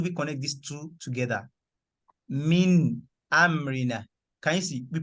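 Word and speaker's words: مِنْ أَمْرِنَا: We pronounce the mim and the nun to the very end.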